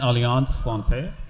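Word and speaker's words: Alliance Française: in collaboration um with the French Embassy and alance Fon that's how you pronounce it we we so there's going to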